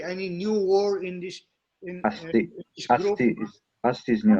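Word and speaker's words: अस्ति: But it is pronounced s, and therefore us. Us. This is not asa, but us. Asti.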